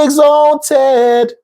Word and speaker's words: exalted: But the first line where we don't have the ah, he sang, be exalted, nothing following. So he's free to sing the ted, the way it's pronounced as in Ted, be exalted.